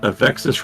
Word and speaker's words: Avexis: Is it a coincidence that Avexis rhymes with Texas?